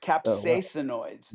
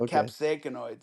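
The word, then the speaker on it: capsaicinoids: him and his son says no Milo Capsainoids. It's not capsacoids.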